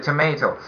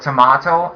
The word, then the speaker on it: tomato: So the tomato. So do not forget that we have two pronunciation of the word tomato and tomato. And both versions are very correct.